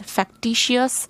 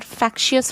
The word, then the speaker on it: factious: Please remember, do not pronounce it as factitious or fictitious. These are factious followers.